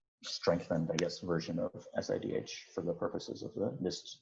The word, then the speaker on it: SIDH: uh abbreviated sidh and i call it sidh i do not give any uh pronounceable syllable to this acronym if other people want